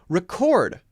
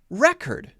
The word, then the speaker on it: record: syllable the first syllable record object produce present right ever notice that same spelling different pronunciation based on the stress which syllable do you